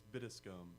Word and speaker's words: Bittiscombe: It's Bittiscombe. It's actually British.